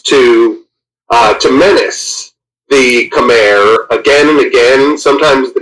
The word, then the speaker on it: Khmer: speak in their words they call it kami I don't know why we spell it camair but it comes out of their mouth kami still a thriving culture